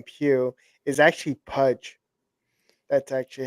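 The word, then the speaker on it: Pugh: people call me but it's actually uh Pudge Pudge I have to rewatch it if she if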